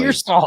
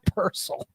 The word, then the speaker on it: Pearsall: It's Pearsall. It's not Purcell.